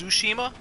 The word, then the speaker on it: Tsushima: I'm pretty sure it's pronounced Tsushima. I'm pretty sure they don't pronounce the T.